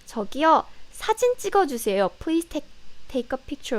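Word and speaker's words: 저기요: quite this good one tokyo and takiyah be careful tokyo and taki yeah so it sounds very similar right tokiyu takiya but it means completely different tokyo means excuse me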